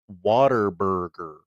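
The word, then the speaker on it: Whataburger: And the tweet says it's pronounced waterburger.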